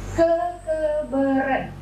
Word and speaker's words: kekeberen: Nah, mungkin kalau misalnya kita baca secara bahasa Indonesia yang baik dan benar, itu pasti kita membacanya itu dengan kata E. Hurufnya itu E. Jadi kekeberen gitu ya.